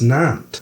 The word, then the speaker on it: Nantes: It's pronounced Nantes.